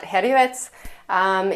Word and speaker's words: Herjavec: Okay, next person on our list is Robert Hrđevec, and in Croatian you would pronounce that Herjevec.